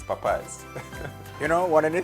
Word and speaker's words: Popeyes: interpreted the word but he pronounced it the way it looked and said by saying populist and then I had the correct if it's not puppy yes it's Popeyes you know one of